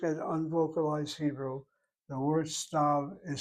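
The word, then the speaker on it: סתיו: Even if I write the Yud in there in the vocalized Hebrew, it's not pronounced, it's silent. The word for fall or autumn, stav. It's not stive.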